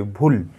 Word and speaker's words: ভুল: ভুল ভুল যখন আমরা বলছি তখন কিন্তু আমি এটা একটা দমে উচ্চারণ করছি, ভুল ভুল ভুল।